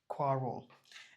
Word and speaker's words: quarrel: quarrel, এখানে stress mark আছে, কোয়া, এটা হচ্ছে কি আ উচ্চারণ হবে quarrel, এটা একটু অ এর মতো উচ্চারণ হবে, ছোট quarrel। আচ্ছা, there were bitter quarrels between the two neighbors.